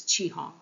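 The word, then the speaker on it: 雌雄: and male uh now the cat Cantonese pronunciate pronunciation of this is chihong and I'm going to use that because I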